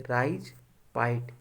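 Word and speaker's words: राइजपाइट: होता है, ठीक है, राइज पाइट, ये खोटा का उच्चारण है, राजपाट को बोलते हैं हम लोग राइज और पाइट।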